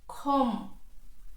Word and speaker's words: comb: Comb, comb, comb. It is not comb, it is comb.